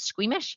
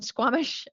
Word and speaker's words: Squamish: have niely from squamish i thought it was squeamish from squamish i hope that's how pronounced in canada and we have jerry